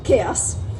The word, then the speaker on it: chaos: an entire talk about cows, and everyone was dutifully taking notes about cows. He comes back after a short break and says, "I'm told it's pronounced chaos." So, take two. We're talking about chaos.